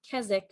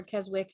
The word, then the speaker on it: Keswick: Liz is making the Keswick or Keswick, depending on where you are and how you pronounce it from here.